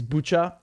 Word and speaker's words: Bucha: i think i think the way to pronounce it in ukraine is is butcher dude there are even